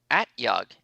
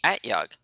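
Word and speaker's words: At-Yug: we were talking about at yug so the o is pronounced is an a at yug okay thank you the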